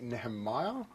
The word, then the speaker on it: Nehemiah: Now, in regards to your music, I know that we do have a clip of one of your songs called I, Nehemiah. Did I pronounce that correct?